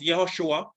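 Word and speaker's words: יהושע: name and this is the hebrew it is pronounced yahushua or there's a shortened form yeshua and that shortened form can be seen in nehemiah 8 verse 17.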